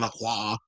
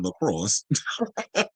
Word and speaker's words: Lacroix: they wanted her to read Christian Lacroix, or as little Kim would say, Christian Lacrosse.